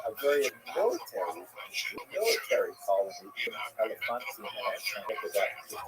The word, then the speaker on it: Elephantine: I always pronounce that, by the way, Elephantine. I looked a little more carefully. It's supposed to be pronounced Elephantine.